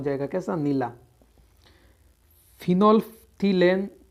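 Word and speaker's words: phenolphthalein: फिनोल्फ्थिलेन, इसे इंग्लिश में बोलते हैं फिनोप्थोलिन और हिंदी में बोलते हैं फिनाल्फथेलिन। एल है वो साइलेंट रहता है इसमें।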